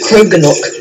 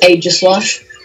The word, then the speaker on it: Aegislash: You said Kroganok. Kroganok. I don't even know. Oh, and you know the DLC character that you weren't going to try and pronounce? Yeah. It's pronounced Aegislash.